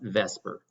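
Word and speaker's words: VSEPR: is this thing called vesper all right and even though it's v-s-e-p-r you pronounce it vesper all right um that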